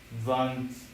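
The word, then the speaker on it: vingt-deux: 22 is probably going to be van vans. What's 22? You're absolutely right. For 22, it's van and it's spelled v i n g t d e u x.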